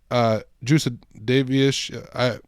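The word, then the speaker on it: Jasudavicius: So, and she's taking on Jasmine Juicedavish. Yes, that's exactly how you say it.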